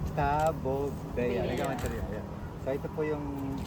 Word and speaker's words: Tabebuia: Tabobea. Ayan. So ito po yung tabobea. Right. So tamang pronunciation ay taboba.